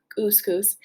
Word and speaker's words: Couscous: Anyway, welcome to Camp Kook Couscous. It rhymes with moose.